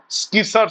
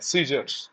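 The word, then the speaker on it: scissors: মানে কাঁচি কাঁচি সিজারস উচ্চারণটা স্কিস নয় সিজারস ম্যান অফ লেটার চিঠির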